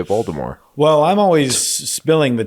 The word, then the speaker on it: Voldemort: Stanger stangert some people some people don't pronounce the T like Voldemort but I've always pronounced the T so I say stinger it and I say Voldemort well I'm always spilling